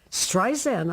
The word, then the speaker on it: Streisand: Streisand, I said. My name is with a Z. It's Streisand, like sand on the beach.